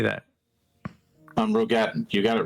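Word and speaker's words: Roegadyn: Rogadin.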